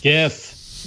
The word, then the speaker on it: GIF: And, you can even, if you want to make a GIF out of screen recording, I use this when I'm in Animal Crossing, that's nice.